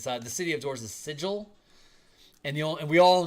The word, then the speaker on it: Sigil: thinking that it was always supposed to be Sigle when everyone since 1992 has been calling it Sigil with a soft G.